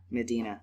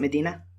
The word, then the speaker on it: Medina: And I settled on Medina because I think it fits better with the fantasy setting.